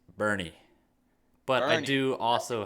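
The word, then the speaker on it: Boerne: Now, next we got 4A D1, number 3 Bourne versus number 2 Corpus Christi Cal Allen. Devin, I'm going with Cal Allen. Dylan, that was a very disrespectful pick. You know why? Because it's pronounced Bernie.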